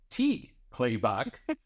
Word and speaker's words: T. Clay Buck: T. Clay Buck has been in fundraising for over 30 years. Clay, the T is silent, held just about every